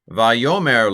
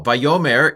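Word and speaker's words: וַיֹּאמֶר: The fact that this is a short vowel, a sagol, a short vowel in a final syllable is a hint that the accent's not on that syllable, because usually when a syllable's accented, it's long.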